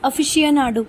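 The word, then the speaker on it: aficionado: अब ये जो 6th वर्ड है ना, इसका प्रोनाउंसिएशन बहुत ही ज़्यादा डिफिकल्ट था यार, मैंने इसको हिंदी में लिखा ताकि आप लोगों को भी आसानी हो। इट्स अफिशिएनाडो, ठीक है।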